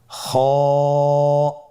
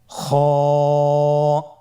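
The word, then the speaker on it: خ: কিভাবে উচ্চারণ করতে হবে খ হরফটির মাখরাজ হল কন্ঠনালীর শেষ ভাগ হতে উচ্চারণ করতে হয়। কন্ঠনালীর শেষ ভাগ আপনারা আমার সাথে বলুন খ আবার বলুন খ মাশাল্লাহ আমরা তিনটি একই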